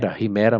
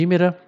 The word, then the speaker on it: Hímera: Primeiro eu achava que era Rimera, mas em português se escreve com um acento no i, né? Então, Hímera, né? Ou Hímera.